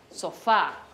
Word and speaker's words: sofá: Tienen acento en la última sílaba. Por ejemplo, sofá.